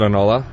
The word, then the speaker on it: Enola: It's a loan backwards, but how do you pronounce it, Ed? We pronounce it Enola. Okay. Right on the dot, man. Or is it NOLA?